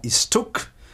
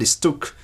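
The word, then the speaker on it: istuc: So for instance, the form istuk is not read ist, but istuk, because it derives from an original istuke.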